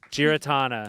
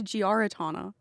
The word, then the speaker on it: Giarratana: I thought it was Giaratana. You're kidding. See? Giratana. Here's the thing. You actually can't say it wrong. Giratana. Giaratana? Yeah. No, those that's are all, just wrong. That's just wrong.